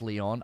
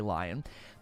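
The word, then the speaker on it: Lyon: team or Leon team it's actually pronounced Leon I always want to say lion that team wow he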